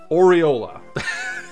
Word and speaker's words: Aureola: this or aurolio or i'll get this right aureola that's how you say it if she's allowed to